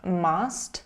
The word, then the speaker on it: must: So must is pronounced as must with the sound ah.